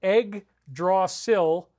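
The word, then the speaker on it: Yggdrasil: probably should have but even though it's pronounced egg draw sill it's spelled y g g so egg is y g g y g g d r s i l the egg draw sill and so there's been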